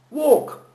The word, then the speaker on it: walk: Dans la majorité des mots en anglais qui a un L au milieu du mot, on n'entend pas le L. Une fois que vous l'acceptez, que vous l'admettez, il suffit d'écouter comment on le dit. Walk. Moi je l'écris W-O, un petit espace, K. Walk. Walk. Je remplace le L par un petit tiret, un espace, mais il n'y a pas de lettre L. On ne l'entend pas.